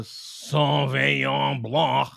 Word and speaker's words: Sauvignon blanc: only ever drinks a sauvignon blanc. Sauvignon. Oh, you have to say it like this. Sauvignon blanc. Sauvignon. Gotta hold your nose up in the air and blanc. Oui, Sauvignon blanc.